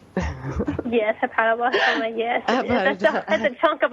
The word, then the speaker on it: hepatoblastoma: Did I pronounce that right? Yes, hepatoblastoma, yes.